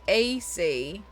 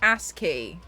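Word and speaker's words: ASCII: this is what AC I've always said AC but apparently that's pronounced asky May how are you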